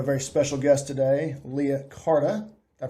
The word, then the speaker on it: Carta: We have a very special guest today, Leah Carta. Did I pronounce that correctly? Yes. C-A-R-T-A, not Carter.